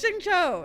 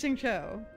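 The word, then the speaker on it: Xingqiu: remember his name therefore it's not helpful it's Shing Cho it's Shing Cho I just couldn't remember his name not his pronunciation of his name I couldn't remember his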